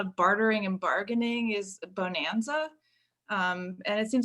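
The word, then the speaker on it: Bohnanza: list right now and it's spelled like b-o-h-n because they're beans you're treating like different beans and stuff so yeah bonanza bonanza the trading resources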